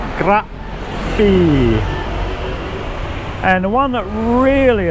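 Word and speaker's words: Krabi: A lot of foreigners will say crabby for this one. It's actually grabby.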